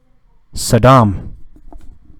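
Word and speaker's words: Sodom: Saddam. Spell S-O-D-O-M. Pronounced Saddam.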